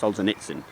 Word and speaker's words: Solzhenitsyn: The figure I have with Solzhenitsyn, it should be pronounced Solzhenitsyn, is, and the gulags and all that, Gulag Archipelagi, is 314 million people just disappeared.